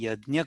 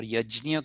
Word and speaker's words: yajna: but it is a yajna karma or yajnya karma or yagya karma, depending upon where you are from in India. You will pronounce it differently, but it is an offering into the sacrificial fire.